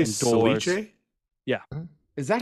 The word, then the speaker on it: ceviche: Did you say Ceviche? Yeah. Huh? Is that how it's pronounced?